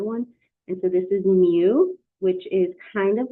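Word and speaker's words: μ: writing the other one and so this is Mu which is kind of like a u and an M smoosh together it's pronounced muu that's the Greek letter mu lowercase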